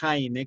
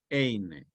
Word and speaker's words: Heine: basándose en un poema del poeta romántico alemán Heine, que se escribe con H, Heine.